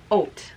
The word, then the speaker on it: Haute: how to say this it's Oh knit yarn but it's h au te it's French like Couture yeah exactly but I